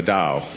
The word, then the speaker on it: Tao: as I've been researching Taoism which is spelled t AO is Mt AO the Dow the word Dow is